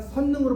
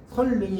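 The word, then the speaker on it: 선릉: 선능의 경우도 선능이 아니 선능으로 해야 한다. 선능. 선능이 설능이에요.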